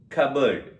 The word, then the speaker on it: cupboard: So the first one is psychology, pneumonia, cupboard.